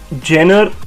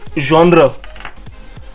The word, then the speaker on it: genre: It's not genre or genre, it's genre, and it means a style or category of art, music or literature. So it's genre, and its pronunciation is ZHON hyphen RUH, genre.